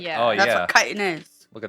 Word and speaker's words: Kytin: How to pronounce kiten. Okay, we just got two different answers here. So, wow. Yeah, the British pronunciation is correct. Kiten. The American pronunciation is wrong and it's Chittin.